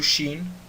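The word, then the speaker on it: שׁין: O som do Sin é o som de S em sapo, e o som do Shin é o som de CH em chuchu.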